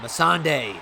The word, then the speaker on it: Missandei: i don't know what happened there and uh missandei that's how you say it game of thrones number 22.